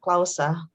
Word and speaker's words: clause: presentation by the way uh you can use clause instead of clausa clausa is indonesian word so the english word is claus uh it's pronounced with um oh claus it's different with